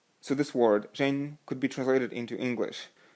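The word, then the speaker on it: 仁: think so in english it's written as ren ren to the best of my chinese knowledge pronounced as jane so this word jain could be translated into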